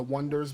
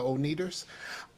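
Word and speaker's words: Oneders: That Thing You Do, where they were the Wonders, but it was spelled like the Wonders, and then people kept saying like people kept calling them the Oneaters.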